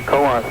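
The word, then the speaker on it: Coos: colossal county democrat it's c-o-o-s but uh we pronounce the co-ops up here co-ops yeah that's okay mark mark with uh mark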